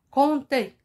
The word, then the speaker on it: compter: l'exemple comptez vous m'écoutez compter il y à une lettre c'est la lettre p qui y est millette ça se prononce pas on dit content et